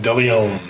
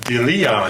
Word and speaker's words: De Leon: Some people just like to put the pronunciation in the wrong spot. De Leon.